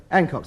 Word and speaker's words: Hancock: Hancock's the name. H-A-N-C-H-O-C-K. The H is pronounced, and anybody who says it ain't is ignorant.